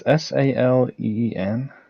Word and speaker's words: Celine: It's Saleen.